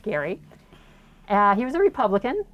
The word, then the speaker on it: Gerry: know that term but g-e-r-y was the last name pronounced gary uh he was a